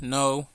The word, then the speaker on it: know: our lesson I don't know you I don't know you I don't know you I don't know you I don't know you we don't pronounce the letter K we don't say I